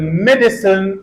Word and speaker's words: medicine: medicine three syllables medicine the second syllable has a sound and there is no stress in this syllable but the previous syllable has me so we can alide this a and instead of medicine we can pronounce medicine medicine and these Illusions appear